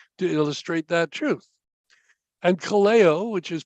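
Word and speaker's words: καλέω: alongside a truth to illustrate that truth and Kaleo which is pronounced as I just said it Kaleo it means literally called or to be called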